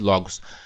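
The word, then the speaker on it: λόγος: Pronuncia-se logos.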